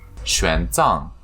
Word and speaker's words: 玄奘: This is how you pronounce our monk's name. 玄奘 Thank you.